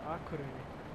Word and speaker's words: Akureyri: Could you please give me the correct pronunciation of the town? Akureyri.